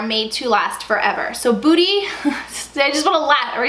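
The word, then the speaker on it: Buti: just can't help it it's booty I think is how you pronounce it that has been in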